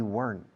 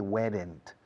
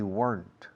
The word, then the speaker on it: weren't: We weren't. Recordad, no se dice weren't. We weren't. Una sola sílaba.